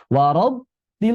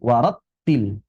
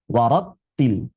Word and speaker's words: warattil: Misalnya, ketika kita membaca " warattil", apakah harus diucapkan seperti " war-r"? Itu berarti menggetarkan pita suara, mengubah bunyi ta dari hams menjadi jahr. Jika kita memaksakan sedikit dorongan, seperti "war-til", itu tidak perlu; Seharusnya "warattil", "warattil" seperti itu.